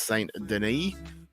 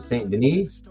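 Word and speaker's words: Saint-Denis: M informs me that it's St Deni not Denis yes I yes I listened to X1 and he pronounced it St Denise St Dennis like my [ __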